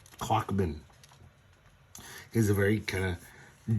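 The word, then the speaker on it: Klochman: It's spelled K L O C H M A N. Clockman.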